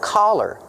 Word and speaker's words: collar: Use the sound a. The open sound ah like hot and stop. C- collar. Don't be confused with color. Color has the short uh sound like cup and up.